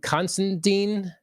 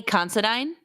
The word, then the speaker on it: Considine: So, and Paddington Constantine, that how you supposed to say his name, uh, from House of the Dragon, the the king. Oh, Pat uh, Patty Considine. Yeah. Yes, correct. Him.